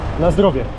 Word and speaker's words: Na zdrowie: Na zdrowie.